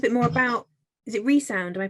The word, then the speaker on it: Re(Sound): tell us a bit more about is it resound am i pronouncing it right yeah resound yeah um it's a spell like resound that's